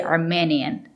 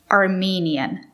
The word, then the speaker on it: Armenian: It's not correct to say Armenian. You have to use the long E. Armenian. The country is Armenia, and people from Armenia are Armenians, and they speak Armenian, not Armenian.